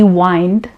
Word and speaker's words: whined: He whined and complained. Whined. Now it is, I will write the spelling here. Whined is again the past form of wine. We pronounce both as the same.